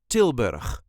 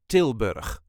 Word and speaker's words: Tilburg: brabant and is called tilberg this is the way us duchies say tilberg tber there is a light emphasis on the first part till till bur all